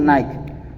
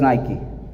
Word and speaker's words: Nike: Cuando tú ves el símbolo, viene a tu cabeza, es una marca, es Nike, se pronuncia correctamente. Nosotros decimos Nike, pero es Nike.